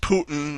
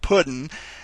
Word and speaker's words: Putin: You did make me laugh at some of the things you'd say, because he mispronounced Putin and said Puddin.